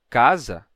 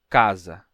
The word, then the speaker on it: casa: Um é um som de A e o outro é o som de A. Então, temos casa, casa, casa, casa.